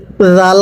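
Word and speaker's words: ذال: অনেকেই বলবেন হুজুর জাল এবং জিম দুটোটাই তো একই উচ্চারণ হয় না, জিমটা শক্ত করে পড়তে হবে আর জালটা নরম করে। পড়ুন। জাল খারা জবর রা। আর জিমটা হবে জিম খারা জবর যা। এটা শক্ত করে, এটা নরম করে।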